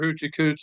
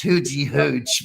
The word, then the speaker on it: Hoochie Hooch: Everyone becomes a mascot for Hoochie Cooch Distillery. For Hoochie Hooch, Hoochie Cooch. It's Hoochie Hooch.